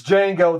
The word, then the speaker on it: Django: It's Django. The D silent code Veronica.